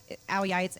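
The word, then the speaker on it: áo dài: So behind me is something called an Ayai and it's pronounced Ayai.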